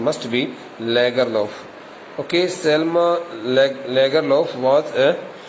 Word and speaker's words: Lagerlöf: Selma Lagerlöf, but its correct pronunciation must be Lagerlöf.